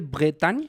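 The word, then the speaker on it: Bretagne: yo siento sí eh Tú eres de bretan lo pronuncié bien Sí muy bien sí está pegado al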